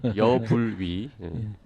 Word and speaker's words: 여불위: 발음이 약간 야불이 비슷하군요. 여불위.